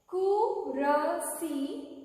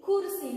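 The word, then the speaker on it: कुर्सी: Kurasi, kursi, not kurasi. You should not say kurasi, kurasi.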